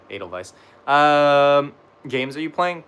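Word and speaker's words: Edelweiss: Yeah, it's like a V. So like Adal Vice.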